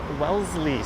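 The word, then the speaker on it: Wellesley: All right, we've made it to Welssley Street. The S is pronounced more like a zed.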